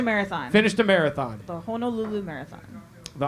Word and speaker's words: Honolulu: The Honolulu Marathon. The Honolulu Marathon. Am I saying it wrong? You're saying it wrong. Well, so Honu is like turtle, okay. And then Nu, Hono. and then Lulu. Lulu.